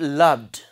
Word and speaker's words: loved: Similarly, second word, loved. Loved. Try saying it. Loved. The final sound, what is it? Duh. Okay. So it comes under duh.